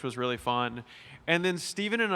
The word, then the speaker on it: Stephen: butchered Stefan. It was Steven.